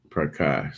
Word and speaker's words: Prakash: Prakash.